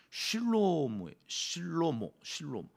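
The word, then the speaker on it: שלמה: 원래 히브리어로는 실로모. 이 N이 없어요. 니은자가 이렇게 영어로 번역되어지는 과정에서 조금 더 센 발음으로 하려고 그랬는지 솔로몬 이렇게 되어졌는데 실로모라고 하는 어원은 샬롬이랑 자음이 같아요.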